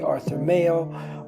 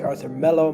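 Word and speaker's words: Arthur Melo: of them could be arthur mayo or should i say arthur mello my apologies from getting his name wrong jeannie winalde is another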